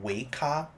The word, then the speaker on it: Weikav: And today we'll be taking a look at the week cat nut 65 keyboard. If you want a more accurate pronunciation, actually call Waka.